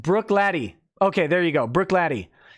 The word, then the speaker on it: Bruichladdich: music says Burke Burke lad H is pronounced Bruichladdich okay there you go